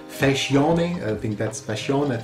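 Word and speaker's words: Facione: And later on, in 1990, you had another guy, Peter Fascione, that's how it is pronounced.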